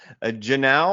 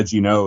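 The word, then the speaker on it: Genao: Angel Angel Janau, I think is how you pronounce it. Jeremy, can you help me out on that one? Sound good? Yeah, Gino is how I've said it.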